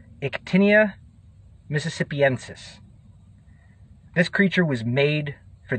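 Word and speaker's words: Ictinia mississippiensis: mississippi kite looks like the latin pronunciation of the mississippi kite is ectinia mississippiensis this creature was made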